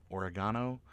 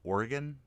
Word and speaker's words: Oregon: Oregano. I guess it's just wherever you're from, is how you pronounce it. But probably Oregon would probably be the most appropriate pronunciation around these parts.